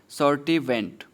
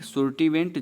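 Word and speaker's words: Sturtevant: तो किसने किया था इंडोस्पर्म के कैरेक्टर के आधार पर मेज का क्लासिफिकेशन, तो वो करने वाले साइंटिस्ट थे कौन, सर्टिवेंट। कौन थे, सर्टिवेंट, सुर्टिवेंट, जो भी आप प्रोनाउंसिएट कर पाते हो।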